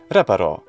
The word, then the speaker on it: reparo: this word that's right it goes on re because the penultimate syllable is short it doesn't have a long vowel and it doesn't end in a consonant reparo would be the normal